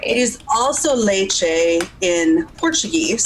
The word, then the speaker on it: leite: It is also leche in Portuguese. It's pronounced leche, but it's Leite. So when you have a T and a vowel, that makes a ch sound.